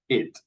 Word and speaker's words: it: But if we want to study hard, if we want to have a real good, very good pronunciation, we have to differentiate both words. So eat, it, eat, it.